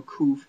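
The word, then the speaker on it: ק: Just remember Kuf as being a K sound, but translated as a linguistic Q, which is just really hard K.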